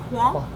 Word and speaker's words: croissant: lot of people go croissant, but Yes. it's croissant. Croissant. Croissant. Croissant. Croissant. Yeah. And if you can say it, The T is silent.